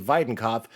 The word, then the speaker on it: Weidenkopf: Our guest, the illustrious Videnov. Do you like that I pronounce your name correctly by the way? Yeah, the German pronunciation is pretty pretty dope.